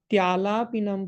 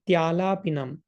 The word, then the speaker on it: Tyalapinam: So the next line is not Alapinam Pratidinam Kurumam Mukunda, but it is Tyalapinam Pratidinam Kurumam Mukunda. So TYA. So the pronunciation will be Tyalapinam Pratidinam Kurumam Mukunda.